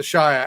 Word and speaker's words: shire: So everyone just calls it the Shia and that's I I would suppose it standing alone it's shia but it with a prefix it's it's sheer because it's just how you run it all together.